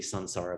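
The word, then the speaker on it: saṃsāra: it which means that the nasal is pronounced with the same part of the mouth as the following consonant so technically it should be sansara but don't go around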